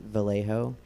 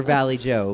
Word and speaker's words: Vallejo: to tell i hate vallejo because i'm like you can't be vallejo like you you can't be half correctly pronounced in spanish and like half not have not like either vallejo or valley joe but like what's this